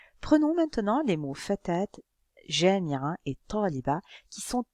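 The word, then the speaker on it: فتاة: Mais dans le mot fatat, je prononce la t. Je la prononce parce qu'elle est précédée d'une alif.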